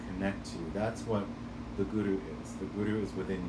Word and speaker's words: Guru: And now, be very careful when you're pronouncing it, that it's not Guru. It's not like my spiritual guru, my fitness guru. My gardening guru. It's Guru, Guru, Guru.